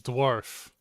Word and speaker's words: dwarf: The word is dwarf, not donkey.